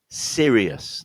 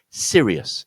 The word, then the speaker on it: Sirius: Sirius. Now this, just in case you didn't know, is the brightest star in the heavens, in visible from planet Earth. The brightest star is called Sirius.